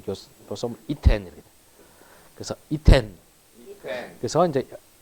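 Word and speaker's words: יִתֵּן: 되는데 자, 이렇게 되면 자, 누는 아르셔바면 무조건 뒷자음에 동화 들어간다. 그래서 사라지고요. 여기 이제 이중점 있고 그러니까 결과적으로 이텐이 이텐이 됩니다. 제가 발음 교수 이텐 이렇게.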